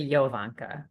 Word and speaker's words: Jovanka: got your name right it's actually Yanka the J is pronounced like a y thank you good morning